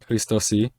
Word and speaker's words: Քրիստոսի: I think that's an aspirated K. That's right. Christosi.